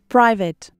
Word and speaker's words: private: Private. Pri. O I tem som de I. Pri. Vit. Vit. Não pronuncio E. e o A tem som de E. Dê uma parada brusca no T.